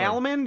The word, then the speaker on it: salmon: You don't pronounce the L.